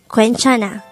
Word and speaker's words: 괜찮아: of a and he the third syllable is a and this is just the sound of a itself with a placeholder or no sound ian at the first position of the syllable and with that you've